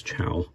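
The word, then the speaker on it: Chao: um Chow that's it it's Chow I remember somebody corrected me on that before goodness anyways I apologize for saying it wrong again um but yeah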